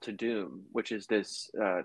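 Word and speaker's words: Tudum: the uh yeah it's funny because I wouldn't pronounced it tadam but everyone pronounces it to Doom like so I don't know 927 gossip website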